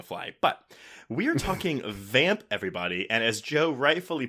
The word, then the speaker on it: Vamp: We are talking about Richard Wenk's 1986 vampire buddy comedy proto From Dusk Till Dawn movie Vamp. With the tongue pop, apparently. Yeah, that's how you say it.